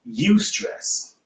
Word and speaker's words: eustress: Good stress is also known as eustress. It is spelled E-U stress.